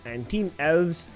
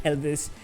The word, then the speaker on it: TeamELVES: And TeamELVES, who we've been mispronouncing as Elvis, finally in 15th position.